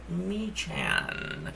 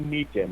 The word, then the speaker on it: Meechan: And I think he goes by the name of Meechan. Meechan. are you there, sir? Yeah, I am, and it's actually Meekin. The H is silent.